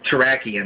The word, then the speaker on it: Terrakion: Cobalion, it's Terrakion, that's how you pronounce it.